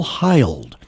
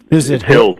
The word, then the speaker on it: Hild: Oh, and we're pleased to have with us uh Bill Hold from Consumer Research.